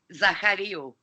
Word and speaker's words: Zachariou: am I pronouncing your name correctly? Zachariou.